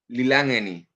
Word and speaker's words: Lilangeni: In Eswatini, the currency is called Lilangeni.